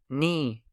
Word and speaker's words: knee: Silent K words. Knife. Knee. No.